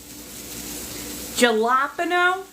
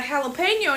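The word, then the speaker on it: jalapeño: Spain and not know how to pronounce a Spanish J galapo who what galapo gal that is a jalapeno and you [ __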